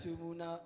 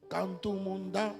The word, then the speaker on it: Kantumunda: Kantumuna, 1 year old. Kantumunda, Kantumunda. faut bien prononcer.